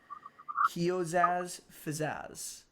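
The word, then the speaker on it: Qiozaz Fzeezaz: Upon attuning to it and speaking the command word, which Callum, you'll know the command word, it is spelled QIOZAZ and space FZEEZAZ. Kiozaz Fazaz.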